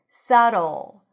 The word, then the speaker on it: subtle: It almost sounds like we're adding a little o there. Subtle. And yes, it sounds like the end of the word bottle.